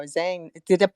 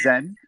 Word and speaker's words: Zen: And it was like, oh, Zhang. Am I pronouncing your name right? Zhang? Is it right? It's Zen. Zen? Yep, Oh, you're close.